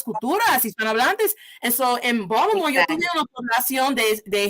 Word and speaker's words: Baltimore: I know I had to learn it's not Baltimore, sino Baltimore. No one walks around pronouncing it as a T.